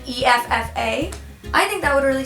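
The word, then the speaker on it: Aoife: sea of bitterness and a good gayc name pronounced like e FFA I think that would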